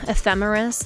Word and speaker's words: ephemeris: And you can do that by visiting any sort of ephemeris. That's EPHEMERIS. Yes, that's how you say it and spell it.